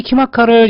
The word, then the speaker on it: KIMACA: 자, 그럼 이 키마카를 여러분들이 보면 키마카라고요. 여러분 그냥 우리 인터넷에서 그죠? 어떤 키마카라고 한글로 쳐도 돼요. 키마카로 쳐도 되고 아니면 영어로 KIMACA를 쳐도 돼요. 키마카 발음 그대로 키마카.